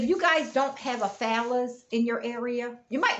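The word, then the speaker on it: Fallas: but look it's f-a-l-l-s somebody told me that i'm pronouncing it wrong but as american y'all so i say phallus somebody said it's something else follow us or something i say phallus f-a-l-l-a-s yes f-a-l-l-a-s somebody told me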